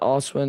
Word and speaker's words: Oswin: I mean, Oswin, is that how you pronounce his his first name. Yeah, Oswin.